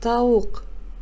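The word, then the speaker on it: тауық: раздел дурос айт произноси правильно пишется Ирек произносится Ирек Каз пишется того произносится таук пишется и кустар произносится и густора пишется прочитаем И переведем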